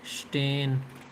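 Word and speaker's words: stehen: उसके बाद [नाक से की जाने वाली आवाज़] है स्टेन। एच को साइलेंट रखेंगे। स्टेन स्टेन to stand.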